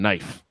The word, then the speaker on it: knife: you're telling them that the K is silent it's not silent in kitchen but it's silent in knife K is the silent